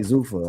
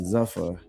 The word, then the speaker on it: Zuffa: It was we didn't know how to say it for a while and you know like I'm learning how to say Zufa. I was saying Zuffa and uh they create they created the lane and ultimately as as fight that's all we want.